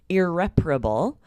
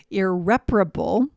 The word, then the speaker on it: irreparable: Yeah, so this is kind of tricky pronunciation, irreparable. So this is really tricky because it's a very different sound from repair, and it's spelled differently as well, right?